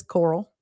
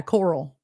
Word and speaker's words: Carl: He adopted the nickname, it says Coral, which was the southern pronunciation of his name. So yeah, Coral. Everyone calls him Carol.